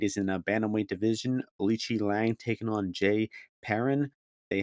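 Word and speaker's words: Aoriqileng: We used to call this guy Aori, but now I'm officially respecting the Chinese pronunciation of his name, Alichi Lang, because this dude is actually not a bad fighter.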